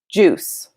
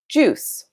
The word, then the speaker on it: juice: flour is uncountable juice now this is a hard word to pronounce sometimes juice the eye is silent juice it is also a